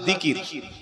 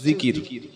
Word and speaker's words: জিকির: উপরে, বিষয়টা হচ্ছে আল্লাহর জিকির। কি নাম বললাম? জিকির। জাল, কাফ, র, তিনটি অক্ষরে একটা শব্দ জিকির। বাংলায় থেকে হলে হবে অন্ত্যেজ্য হস্যই, কয়হাস্যই, র, জিকির। এটা বাংলায় আরবির উচ্চারণ, আর অর্থ হলো আল্লাহর স্মরণ।